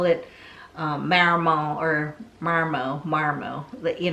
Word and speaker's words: marimo: transposing of the pronunciation I'm going to call it Marimo so Marimo is close to marry mwah but it's you know